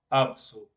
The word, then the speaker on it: Apsu: la profundidad del mar, primero escribimos el símbolo su, después el símbolo ab y lo pronunciaríamos como Apsu, ¿sí?